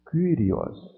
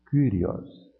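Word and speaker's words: κύριος: Vejam que aqui o Y está isolado. Ele não é parte de um ditongo. Então como é que eu leio essa palavra? Kyrios. Kyrios.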